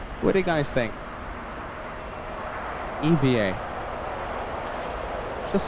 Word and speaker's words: EVA Air: Chris says Eva Air officially pronounced by spelling out the letters EVA. Eva air.